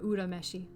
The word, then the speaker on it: Urameshi: was dressed as yusuke yura meshi or urameshi proper pronunciation from um yu yuhaka